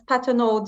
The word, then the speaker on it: Patenaude: Oh, it's a French last name. It's Patenaude.